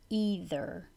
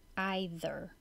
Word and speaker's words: either: D literature literature whether either either and you can say this more than one way antidepressant antidepressant or antidepressant